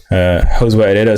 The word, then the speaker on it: Josué Herrera: Josué Herrera Spanish, that's how you say it.